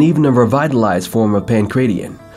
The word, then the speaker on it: Pankration: Arts like Russian Sambo, Bruce Lee's Jeet Kune Do, and even a revitalized form of Pancration, pronounced Pancration, were central to the restructuring across the martial arts world that groomed practitioners to compete in MMA.